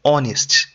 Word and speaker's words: honest: We say an honest, The H to here is silent, like an honest man. So if the word was honest, then we'd say a honest, but the H is silent.